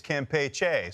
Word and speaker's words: Campeche: former Florida guy and the pronunciation of where Carl is there the the Bay of Campeche or the Bay of Campeche so when I was in Florida to be perfectly honest Brian everyone said Campeche I was told that it's it's Campeche so I I amended my pronunciation of it I think it's a little bit of a of a you know tomato tomato but I I believe it's Campeche that that's the the well